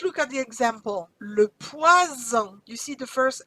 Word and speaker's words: poison: Le poison. You see the first S is between two vowels. Z sound. Le poison. But if I double my S, it becomes le poisson.